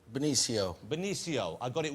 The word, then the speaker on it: Benicio: Am I doing the pronunciation? Is it Benicio, Benicio? How do I say the name correctly? Benicio.